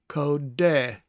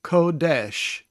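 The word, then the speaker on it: קודש: you know quite well, ko, hard D, segel, S sound, kodesh. There's a dot at the leading edge of the sheen, making it a sh sound. So kodesh. And we know that kodesh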